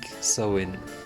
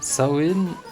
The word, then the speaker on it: Samhain: Samhain, qui se prononce "sow-in" ou "sah-win", est un mot gaélique qui signifie "fin de l'été".